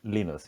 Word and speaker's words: Linus: How should I It's pronounce Linus.